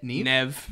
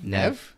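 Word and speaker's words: Neve: are cool how do you say her name nev nev yeah nev that's very unique courtney you say courtney cop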